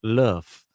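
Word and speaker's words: l'œuf: or goose egg and the french word for egg is luff and the pronunciation of which isn't too far removed from the english love here we go really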